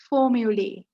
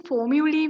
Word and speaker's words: formulae: In this video, I'm going to talk about formulae. සිංහලෙන් formulae වලට කියන්නේ සූත්‍ර කියලා. මෙතන LAE තිබුණට අපි sound කරනකොට pronounce කරනකොට LEE. lee sound එක තමයි තියෙන්නේ. lee කියලා තමයි pronounce කරන්න ඕනේ. formulae.